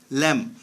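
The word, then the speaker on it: lamb: এল এ এম বি ল্যাম, ল্যাম মানে মেষ শাবক। এল এ এম বি ল্যাম, ল্যাম মানে মেষ শাবক। জি সাইলেন্ট থাকবে।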